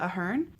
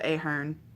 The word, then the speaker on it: Ahern: 100 names by Cecelia Ahern I listened to the audiobook and that's how they pronounced it and I always thought it was a Hearn it was a story